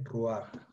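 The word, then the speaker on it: רוּחַ: ante la presencia de un pataj furtivo, un pataj ligeramente desplazado hacia la derecha, que lo que va a hacer es que se pronuncie y se translitere antes la vocal que la última consonante. Entonces intercambian de lugar la vocal y la consonante.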